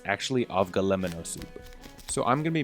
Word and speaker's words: avgolemono: day let's first point out that I've been pronouncing this wrong my whole life it's actually of GLE M&O soup so I'm gonna be making this whole